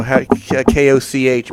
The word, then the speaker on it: Koch: It's Koch, or they call it Koch Media. Koch. That's how you say it.